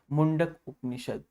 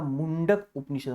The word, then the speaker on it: मुंडक उपनिषद: जयते is taken from मुंडक उपनिषद। तो ये ध्यान रखिएगा, मुंडक उपनिषद, मुंडको उपनिषद नहीं है ना, मुंडका उपनिषद नहीं है, ये ध्यान रखिए।